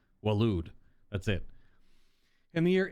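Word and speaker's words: Waloed: the kingdom of walude that word always makes me want to pronounce it differently but it's just like walude that's it in the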